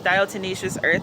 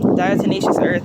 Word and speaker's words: diatomaceous earth: that why stuff is dial tenacious earth i hope i pronounced that right i learned i was pronouncing it wrong for like a year or two diatomaceous earth that's just to help